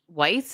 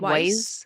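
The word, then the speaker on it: Weisz: I think I think it's We like Weiss. Yeah, that's the way I've always said it. Weiss.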